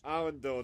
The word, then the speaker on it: Arundel: Arundel, that's how you pronounce the name.